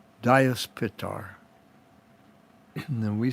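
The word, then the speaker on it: Dyaus Pita: so the sky father in sanskrit is pronounced in our in our language diaspitar and then we spell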